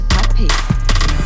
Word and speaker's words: Papi: P-A-P-I 发音还是 puppy。